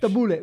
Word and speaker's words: tabbouleh: And he charges £6 for tabbouleh salad as a separate salad dish. Why do you say it so fresh? Tabbouleh.